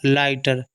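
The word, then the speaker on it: lighter: क्या हो जाएगा लाई जी एच जी एच साइलेंट होगा टी से ट आर से रा लाइटर लाइटर मतलब होता हल्का कम वजन का आगे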